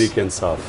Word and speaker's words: Tehreek-e-Insaf: How do you say it? Tariqa-Insa? Movement for Justice. Movement for Justice. Tehreek-e-Insaf.